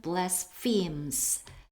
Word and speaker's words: blasphemes: This man blasphemes. 자, PH는 일단 F 발음이고요.